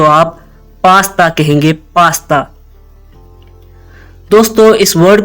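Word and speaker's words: pasta: दोस्तों इस वर्ड को हम पटा नहीं कहेंगे पटा इसकी करेक्ट प्रोनंसिएशन है पास्ता पास्ता फिर कहेंगे पास्ता और अगर आप इसको मादुरी जुबान के साथ मिलाकर पढ़ेंगे तो आप पास्ता कहेंगे पास्ता दोस्तों इस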